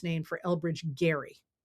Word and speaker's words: Gerry: It actually comes from Elbridge Gerry. I don't, it's one of those things, that's how you pronounce his name, but they call it gerrymandering,